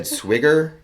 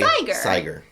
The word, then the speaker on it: Siger: So she said it was like tiger. Oh. So Faye. Siger.